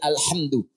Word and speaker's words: alhamdu: Jadi al-qira'us sam'a 'ala dhammid dal. Bacaan di qira'ah sab'ah semua para pembacanya itu mendhammahkan huruf dal di alhamdu.